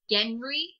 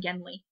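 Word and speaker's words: Genly: name Genley with an L and the other pronounces it Genry with an R. Yeah. So, we'll just call him Genley.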